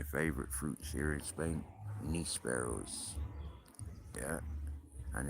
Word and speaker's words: nísperos: I forgot about one of my favorite fruits here in Spain, nísperos. Yeah, and it's spelt the way it sounds, nísperos.